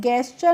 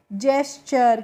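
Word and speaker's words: gesture: गेस्चर नहीं पढ़ते हैं। क्या पढ़ते हैं इसको हम? जेस्चर।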